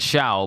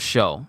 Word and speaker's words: Shou: I said Shao, but it was Shou.